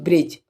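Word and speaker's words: bridge: अगर दी ए जाएगा तो दी क्या होगा साइलेंट होगा ठीक है जैसे एग्जांपल के तोर पे ले लेते हैं हम ब्रिज ठीक है ब्रिज ब्रिज मैन होता है पुल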